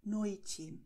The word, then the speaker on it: noite: Und weiter geht es mit einer wichtigen Information und das heißt, E am Wortende wird wie I ausgesprochen. Das heißt, tardi. Noite. Die Wörter haben wir schon gelernt und werden so ausgesprochen. Tardi, noite. Und O am Wortende wird als U ausgesprochen.